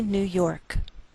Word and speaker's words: New York: Albany, New York. Note that we treat New York as one word and we place more stress on the second part, York.